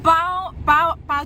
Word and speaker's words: pain: Pau coklat. Pau itu dalam bahasa Prancis roti ya, tulisannya pain tapi bacanya pa.